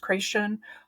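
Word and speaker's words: Krashen: a position held by Stephen crashen sometimes pronounced creation uh and others who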